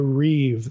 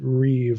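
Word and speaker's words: ריב: the what what this is Hebrew terminology the Reeve that's r i but you pronounce it Reeve like it's R the Reeve pattern Reeve is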